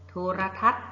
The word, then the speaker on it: โทรทัศน์: ออก เสียง รอ เรือ โทรทัศน์ พ่อ ไม่ ออก เสียง นอน หนู พระ อาทิตย์ ก็ ไม่